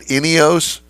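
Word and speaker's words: Ineos: Turismo in Wilsonville Oregon which is the uh inos dealership for uh the area wow well that's a fancy dealership there I like it all right so did I pronounce it right inos yes inos Grenadier is the name of the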